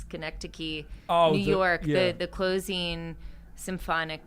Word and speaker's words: Schenectady: It's Schenectady, New York.